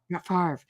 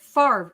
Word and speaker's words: Favre: And I'm like, how is it Favre if the R comes after the V?